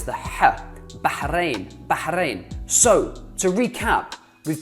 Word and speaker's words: Bahrain: This is how most people say it, Bahrain. This is how it's correctly said, Bahrain. Again, it's the R, it's the R, Bahrain, rain, rain, or Ra, Bahrain, Bahrain, Bahrain, Bahrain, Bahrain, Bahrain, Bahrain.